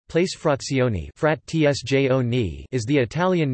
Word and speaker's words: frazioni: Italian pronunciation, frat tsjone, place frazioni, frat tsjone, is the Italian name given in administrative law to a type of territorial subdivision of a commune.